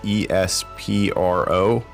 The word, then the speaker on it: Espro: Alexa, how do you say E-S-P-R-O? I pronounce that Espro.